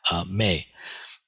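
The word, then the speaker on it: 命: This is pronounced Mei.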